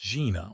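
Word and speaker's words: жена: "It's pronounced Gina, or you could call me.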